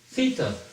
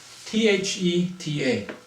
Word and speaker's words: theta: Greece and it's a Greek feta and it's pronounced as theta th e ta theta so we write it like an all